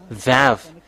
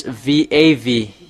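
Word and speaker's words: וו: It's really pronounced V. V in vog.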